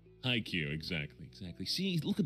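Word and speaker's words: Haikyu: to be entertaining oh they're saying hi cue i can't yeah that's how it's pronounced iq exactly exactly see look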